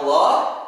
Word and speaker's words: Allah: Itulah pengucapan kata Allah; Ada dua. Yang pertama tebal, yang kedua tipis. Ada Allah, dan ada Illah.